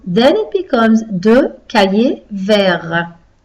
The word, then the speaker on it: verts: So then it becomes deux cahiers verts. The T again is silent like before because it's only with the E that we make it not silent.